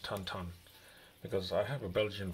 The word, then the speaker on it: Tintin: belgium and i think back in belgium they call him tantan it's not tinting it's pronounced tan ton because i have a